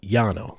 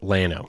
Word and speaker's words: Llano: It's probably supposed to actually be pronounced Llano because it's two L's, right? In Spanish, two L's. It's a Y sound. Yeah. But everyone there calls it Llano. So we're going to call it Llano because that is the colloquial thing to say.